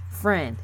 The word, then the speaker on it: Freund: no F are you f AR e-you indeed friend is how you pronounce that andrew friend died three days before